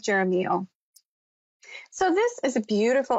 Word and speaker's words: Jeremiel: at the perfect time archangel jeramial i believe another name he goes by is romeo and i've heard different people pronounce it in different ways tonight i'm going with jeremiah so this is a